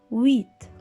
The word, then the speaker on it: huit: que la lettre h au début ne se prononcent pas il s'agit d'une lettre miettes encore une fois huit le chiffre 9 encore y voit 9 maintenant